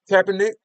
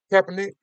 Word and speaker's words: Kaepernick: Are we getting Captain Nick? Is that how you pronounce his name? Kaepernick.